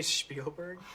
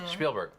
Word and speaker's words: Spielberg: Did you say Spielberg? Spielberg. It's Spielberg. Well, the original pronunciation was Spielberg.